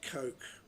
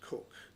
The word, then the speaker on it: Coke: Now, I often pronounce it Coke, but it is pronounced Cook, so I will use the correct term, Cook, the second Earl's younger brother.